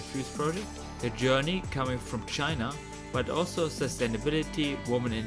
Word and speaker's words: Qin: So, my name is Qin, spells Qin, but pronounced Chin.